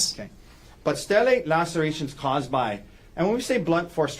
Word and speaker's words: stellate: And you refer to it as a stellate laceration. Is that right? Yes. And am I pronouncing that right?